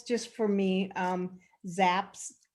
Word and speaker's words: Zapp: So it's Zapp, Zapp. It's a long A sound or A sound.